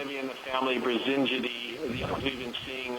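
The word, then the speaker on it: Brisingidae: Chris, can you pronounce that again, please? There we go. Yes, so the family is Brasingidi.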